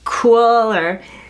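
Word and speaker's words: Kuiil: guy and I think it's names kind of pronounced like cooler he is a he's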